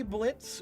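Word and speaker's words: Blitzø: okay um someone uh the O is silent yes we know um I usually say Blitz when I'm I'm speaking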